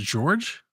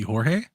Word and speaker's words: Jorge: I believe this is George. Spelled with a J though. Be Jorge.